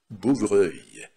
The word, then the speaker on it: bouvreuil: «e», «u» и «l», ça se prononce, это произносится как «œil», «œil». Par exemple, «bouvreuil», «снегирь», птичка такая есть, красивая очень.